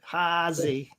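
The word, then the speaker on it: Haase: too good enough but oh you got it hausey yeah it works yeah and then we got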